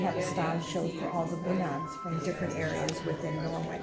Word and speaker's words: bunad: bunad. Bunad. Bunad. No, not G. Bunad. B-U-N-A-D. Well, I've heard it pronounced both ways.